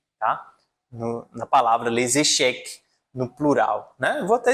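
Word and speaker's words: échecs: E tem também o jogo de xadrez les cheek, que acaba com s, mas o s não é pronunciado. Que se pronuncia vai ser o c, tá? No na palavra lascheque, no plural, né?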